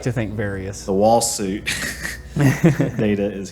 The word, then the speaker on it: Varia: It's just a mistranslation of barrier suit in Japanese. Oh my god! So I guess it should be pronounced Varia.